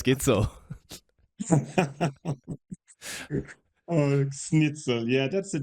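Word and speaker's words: Gidsel: play a major competition my last name rhymes with schnitzel hello my name is Matias gitzel oh snitel yeah that's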